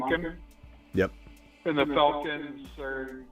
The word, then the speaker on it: Monken: And then while we've been on here, your boy Schefter came on and said, pronounced it wrong. The Chargers are interviewing Ravens offensive Todd coordinator Monken, Monken.